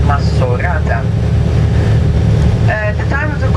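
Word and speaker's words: Maxorata: m in fact maata with an X it's written we pronounce it with an S masata uh the time of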